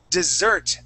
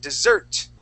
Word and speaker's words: dessert: All right, so dessert, the accent at the end, dessert, okay.